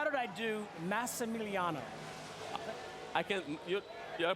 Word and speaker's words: Massimiliano: Max, I ask you respectfully, how did I do Massimiliano? I can, your pronunciation? Yes. Are you from Is it Dubuque, close? Iowa? You say it. Massimiliano.